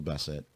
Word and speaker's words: Bassett: 16th of August also Angela bassette or Basset if you actually want to say her name properly she's 66 years old